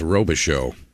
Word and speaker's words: Robichaud: See the comment section correcting my pronunciation of Jason's last name. They say it's Robichaud.